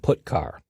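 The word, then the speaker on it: putchar: input and output the two most common C language character io functions are get car and put car that's how I pronounce them get car fetches a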